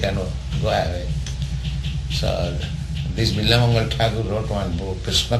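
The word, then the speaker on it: Bilvamangal: Yes, Bilba Mangal.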